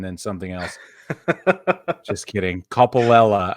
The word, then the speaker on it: Coppolella: something else just kidding couple Ella I believe is how you pronounce it he has been reinstated